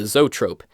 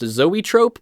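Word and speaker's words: zoetrope: time not at all we got the zot Trope it's supposedly pronounced Zoey Trope but I honestly find saying it like zot Trope is more fun the zot Trope was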